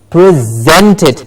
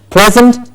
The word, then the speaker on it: present: what do you do with the present you presented the Zent gets a stress means to give something so you hear the